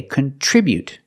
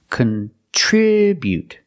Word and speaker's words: contribute: started with the verb we say contribute we put the stress on the second syllable contribute contribute the first syllable is not stressed so we make this short sound contribute then for the second syllable we have TR and TR makes the CH sound like chicken plus the r together